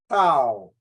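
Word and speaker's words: τ: this is Tau Tau the letter the letter is pronounced as Tau t-e-u okay it's a Greek letter if I want to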